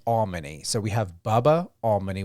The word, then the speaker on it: Almony: he said to me, just think of all money. It's Almony.